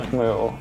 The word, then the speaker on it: Camus: I'm gonna be honest, I first found Camus because, Camus? Sometimes I still say Camus because I found him on Wikipedia as a middle schooler and I didn't know the French pronunciation.